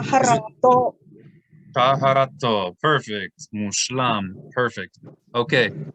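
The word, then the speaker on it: טהרתו: It only makes the vowel sound of O. So we would not say tav here. We would just say to. Taharato.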